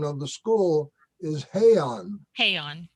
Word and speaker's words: Heian: The pronunciation of the school is Heian, Heian, right.